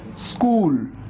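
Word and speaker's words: school: कई बार स्टूडेंट्स इसको गलत प्रोनाउंस करते हैं, ऐसे कहते हैं स्कूल, आप ई लगा देते हैं। ई नहीं लगाना है, आपको शुरुआत करना है आधे स से।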